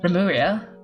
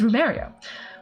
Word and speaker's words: Remuria: At that time, I could not even pronounce Remuria. I thought it was Rumeria. With it coming out something more akin to Emuria, while asking me many questions, which I answered truthfully.